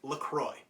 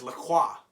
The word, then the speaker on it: LaCroix: except for one individual calls this drink Lucroy but apparently one of my friends that speaks French says not it's Lacroix and I said no there's only one reason it would ever be called Lacroix and that's if you're in France and not talking about the drink this is how Lacroix guess are so apparently Lacroix is French for the cross I want to imagine